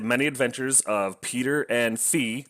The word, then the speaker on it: Fi: Adventures of Peter and fee that's why I'm gonna pronounce it because it's short for fiora but I'm gonna say fee cuz it just I like the way that rolls off the tongue better this is a interesting